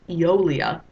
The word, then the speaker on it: Aeolia: is a place called Aeolia. It's pronounced, the AE is pronounced like an E, so it's Aeolia.